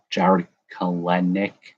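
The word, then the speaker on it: Jarred Kelenic: One of them, Jared Kalenic. That's how you pronounce it.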